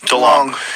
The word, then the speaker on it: DeLonge: Tom DeLonge. DeLonge.